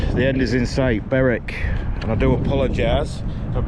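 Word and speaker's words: Berwick: end is in sight beric and i do apologize i've mispronounced any names uh i didn't realize w was silent until phil reminded me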